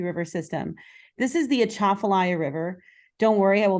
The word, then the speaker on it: Atchafalaya: of the Mississippi River system this is the achafalaya river don't worry I will not test you on the pronunciation of this word it is quite tricky but this is the Atchafalaya the atoplay river is part of the Mississippi